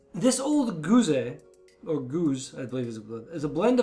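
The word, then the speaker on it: gueuze: meit fermentation takes place after six months the goose' so the goose I keep mispronouncing that it's the way it spelled as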